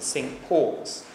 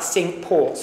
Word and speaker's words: Cinque Ports: we talk about the Cinque Ports a proper pronunciation should be synched because in the 12th century when it's founded the word for five in French was sink now they originally were